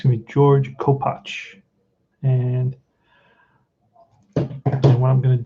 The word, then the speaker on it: Kopach: people look for that that's how you pronounce it co-patch it's a polish name so it's it's going to be fred uh it's going to be george kopach and what i'm going